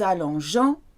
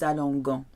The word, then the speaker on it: allongeons: For example, nous allongeons keeps the E in after the G to keep the G soft. Otherwise it would say nous allongons, we lie down.